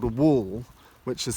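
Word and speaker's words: whorl: a name for that and that's called a wall which is spelt WH o RL and when you find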